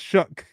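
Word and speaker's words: Shough: saw or it's shook shook it's shook it's pronounced shook Tyler shook okay I don't know where the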